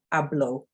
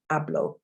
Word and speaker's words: hablo: So hablo means I speak, hablo. And you'll notice that the H is silent. If you have watched my phonics video, you'll know that an H is usually silent in Spanish.